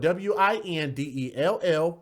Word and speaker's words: Windell: It's kind of weird, but her name is spelled W-I-N-D-E-L-L, Windell Boutte, which is spelled B-O-U-T-T-E.